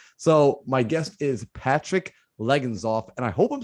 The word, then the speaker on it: Legenzoff: One time somebody did say Legenzoff, and I was like, dang, I've been saying it wrong this whole time. Like that was spot on, perfect, man.